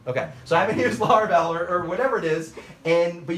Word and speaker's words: Laravel: So you can say, you know, I haven't used Laravel. Did I pronounce it right? Yep. Okay. So I haven't used Laravel or whatever it is.